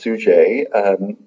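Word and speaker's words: Suger: like sugar or something but his name is pronounced sue J was the Bishop of Santa Annie looks like st.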